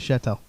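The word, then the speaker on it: Cheatle: Secret Service Director, Kimberly Chettel, is a dumb bitch. I don't know if that's how we say her name. It is Shetel.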